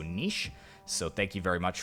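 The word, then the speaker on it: Niš: did comment saying that instead of nice this is actually pronounced with an SH so nish so thank you very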